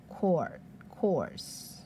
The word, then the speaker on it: Quartz: 好，来，这个图腾叫做 Quartz，它的发音跟 quarter 很像